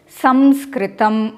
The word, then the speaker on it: Samskritam: Now, sa, in our case, we are looking at the correct way of pronouncing Samskritam. Here, the anuswara is followed by a sa sound.